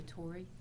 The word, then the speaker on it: Torre: the record please yes my name is torrey the last name is spelled t-o-r-r-e uh miss torrey i have provided